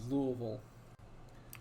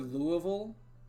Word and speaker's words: Louisville: But imagine you come to the word Louisville or Louisville and you don't know how to pronounce the middle bit and you mumble it. That's the Kentuckian America. pronunciation of Louisville.